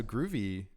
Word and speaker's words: Grüvee: didn't answer yeah so groovy was essentially just a a play on the word groovy so gr ovy but instead of instead of spelling it like that I decided to spell it like this with an ohm law over the U and just to e so like good evey you know but groovy